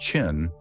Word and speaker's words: Qin: From the word Chin, pronounced Chin, came the name that nearly every language on Earth still uses for that country today, China.